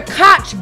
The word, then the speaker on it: Koch: They're the Koch brothers. Koch. It's not Koch, it's Koch. It's spelled Koch, but I'm telling you, when I saw the documentary on Netflix, it's pronounced Koch.